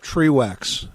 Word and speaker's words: Trewax: okay that sounds good trewax is spelled t r w ax okay one e okay got it all